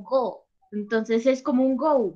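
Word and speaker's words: 五: El 5 se pronuncia en japonés como go, entonces es como un go, vamos.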